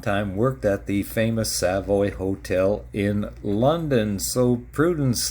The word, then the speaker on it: Savoy: And by the way, it's pronounced Savoy, not Savoy.